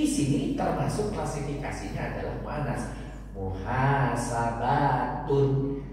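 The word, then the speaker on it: محاسبة: termasuk klasifikasinya adalah muanas muhasabatun tetapi dalam pengucapan kalau kita diwakaf kalau kita berhenti maka yang Tun ini cukup dibaca ha Muhasabah tapi jangan lupa ada Alif berarti di panjangkan fathahnya kalau ada Alif kalau ada iya kasrahnya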